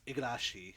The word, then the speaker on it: Igarashi: And the other one is Bloodstained, Ritual of the Night, which is done by, I always get his name wrong, it's Igarashi, which is the guy who did all the Metroidvania-type Castlevania games since Symphony of the Night.